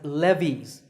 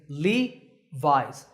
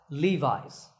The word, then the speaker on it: Levi's: founder by the way the name is often pronounced wrongly as Levy's that's not correct remember that the correct way to say it is Levi's Levi's up next is the sportswear manufacturer Nike that's